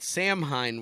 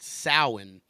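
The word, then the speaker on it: Samhain: it's it's maben and that Sam Hein word is pronounced sowin uh believe it or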